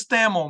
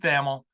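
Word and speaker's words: Pete Thamel: and by the way it is stamel man it gets his name gets pronounced a lot of different ways but uh once again I double checked with him before we started it is Pete thamil he's a native of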